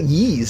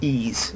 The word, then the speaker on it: Ys: and warriors and Yi's YZ YZ is it pronounced ezel I always say Yi's say it's ease oh god great feel so embarrassed right series